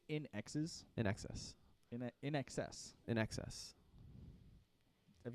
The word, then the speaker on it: INXS: Now it sounds In Excess. in excess. In excess. I said it wrong. It's INXS, in Excess. Right. But you're still saying like in access.